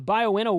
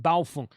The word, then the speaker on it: Baofeng: So I wouldn't mind having the Baofeng one that I have is a 240 watt hour.